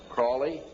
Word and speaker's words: Crowley: learned about with Aleister Crowley he likes to have his name pronounced Crowley to rhyme with holy and the Satanists today